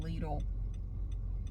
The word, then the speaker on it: Lidl: And then I'm going home to do the peacock wreath, but first I have to go to Aldi and Lidl. Yes, that is how it's pronounced in the USA.